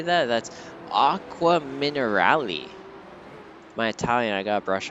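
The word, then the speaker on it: Acqua Minerali: That's Aqua Minerali.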